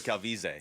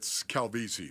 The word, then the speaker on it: Calvisi: Is it Calvisi or Calvise? Yeah, it's Calvisi, ladies and gentlemen.